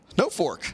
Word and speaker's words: Norfolk: that beat Norfolk but for Nebraska it's pronounced no Fork no Fork Nebraska confused